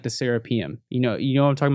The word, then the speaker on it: Serapeum: It's actually pronounced the Serapeum.